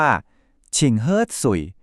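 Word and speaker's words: 请喝水: นาม ให้ หน่อย เนอะ เรา ก็ พูด ว่า ฉิ่ง เฮ้อ สุ่ย ชิงเฮ้อ สุ่ย ครับ ก็ คือ เชิญ ดื่ม น้ำ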